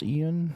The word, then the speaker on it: Ion: A recent interview with the director, I think his name is pronounced Ian. It's like I-O-N. Ian Hazzikostas. It's Eon.